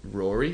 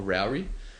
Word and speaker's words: Raury: No, I've been listening to a rapper called Rory or Rowry. I think it's Rory, but it's spelled Raury.